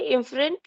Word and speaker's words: efferent: Duct को बोलते हैं एफरेंट इफरेंट, ठीक है, इफरेंट लिम्फ वेसल।